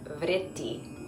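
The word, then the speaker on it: वृत्ति: Vritti is a challenging combination of consonant sounds. Vritti.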